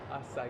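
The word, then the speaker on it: açaí: So that's how you pronounce it. Acai.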